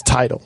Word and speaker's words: Tidal: No, it's Tidal. Okay. Tidal. Like a tidal wave.